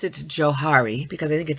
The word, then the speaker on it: Johari: and harry ingram and they combine their first names so maybe it's joe excuse me joe harry but i like johari